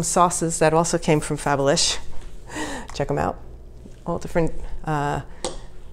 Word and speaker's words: Fabalish: and Jack, introduced me to, and it is pronounced Fabalish, which is a fabulous name for a brand, by the way.